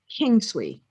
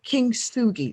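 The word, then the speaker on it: 金継ぎ: It's called Kin swee, and I'm not prob-. Kin Tsugi, let me pronounce it correctly.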